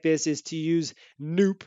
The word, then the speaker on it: noop: And a common way to do something like this is to use noop, as I like to pronounce it, which is short for no op or no operation, don't do anything.